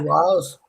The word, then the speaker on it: Wiles: Wiles.